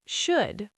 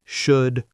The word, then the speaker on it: should: W A L K walk could, should would None of these have an L sound. Could, should would I hear learners say should all the time very common mistake. Remember, no L.